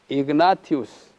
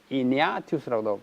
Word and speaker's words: 이그나티우스: 안디옥 교회의 지도자였던 이그나티우스 또는 이니아티우스라고도 발음하는데, 이 사람이 편지를 하나 썼는데요.